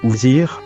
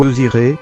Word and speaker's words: Osiris: Mais il semblerait que la prononciation qui se rapproche le plus de WSJR soit Ouzir ou Osiré, car la première lettre, W, étant muette, ne se prononce point.